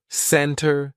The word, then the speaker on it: center: Usually, if the T comes after an N, we drop that T and we do not pronounce it. Center.